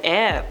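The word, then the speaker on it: Aire: that it was actually pronounced the same way as the element.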